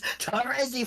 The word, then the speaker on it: Terezi: Yeah, no, it's Terezi Pyro. That's how I've always said it.